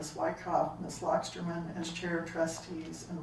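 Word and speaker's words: Loxterman: can still tell me your full name lockerman you're going to have to spell that last name I think we get the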